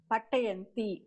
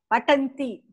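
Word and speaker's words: पतन्ति: Patayanti. Patyanti. Not patayanti, patyanti. No. What's the form? Patanti. Patanti. Not patayanti.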